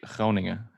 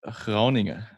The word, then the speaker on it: Groningen: Groningen, in the north of the Netherlands. In where? Groningen, it's called in Groningen.